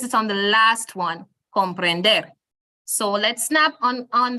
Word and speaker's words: comprender: what it ends with we place the stress on the very last one which is why we say comprender and not um comprender okay so we place it on the last one comprender so let's snap on